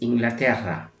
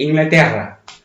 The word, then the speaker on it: Inglaterra: Okay, UK or Britain is Inglaterra, Inglaterra, Inglaterra. Okay, I cannot pronounce it like good because the double R is quite difficult in Spanish. Say it, Inglaterra.